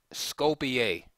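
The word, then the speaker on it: Skopje: game we're going to look at is from Scopia that's right I did pronounce it correctly thank you that spelled s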